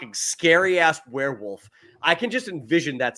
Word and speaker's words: Werwulf: century werewolf movie called werewolf I think it's pronounced werewolf but and what you